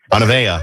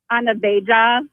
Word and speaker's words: Anavea: Anavea. I wouldn't have guessed that. How do people pronounce it wrong? Anaveja.